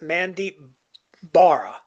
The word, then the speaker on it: Mandeep Bahra: This is Ed Pogue, My Figure Universe, and this week on Boosting the Signal, my guest is Mandeep Bahra. And I pronounced that correctly, right, sir?